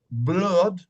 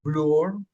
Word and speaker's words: blood: Se dice la doble O como floor, piso, no es flur, blood, no es blur, blood. El libro, que si, aunque